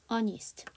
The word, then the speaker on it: honest: You are quite honest. Las Vegas is quite far. You look pretty. Thanks. You made my day. 전체 슬라이드에서 묵음을 갖고 있는 아이 있어요. 그렇죠? honest에서 H가 묵음이에요.